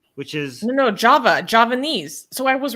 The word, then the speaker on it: Javanese: close it's close it's it's spelled with a J like Java Javanese or something in that language